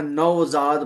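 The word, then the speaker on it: نوزاد: पेन को खुदकार कहते हैं फारसी में या नजाद अब नजाद तो लफ्ज है मगर वाओ उसका नौजाद पूरा करके नहीं बोला जाता नजाद बोल देते हैं नजाद नजाद यानी न्यूबर्न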